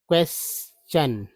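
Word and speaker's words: question: क्वेश्चन ठीक है? अब हालांकि टी एन को सन बोलते हैं। लेकिन यहां टी को जो है च उच्चारण किया गया है।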